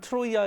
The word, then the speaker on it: 트로이아: 얘기를 하겠습니다 가니메데 쓰는 트로이아 의 왕자 입니다 매트로 이 아가 그 전부터 계속 의식 되고 있는 거죠 트로이 전제 트로이 않은 트로이의 그리스 발음 이에요 크로 트로이는 영어식 발음 이제 트로이아 트로이의 왕자